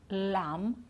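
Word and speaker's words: lamb: of these words climb we don't pronounce the b at the end crum lam and num okay so no b at the end we don't sound it at all okay now tricky consonants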